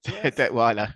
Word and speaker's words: Detweiler: thrilled to have you here did I pronounce that right de fin you did deweer yes Detweiler okay it's obscure that I think the only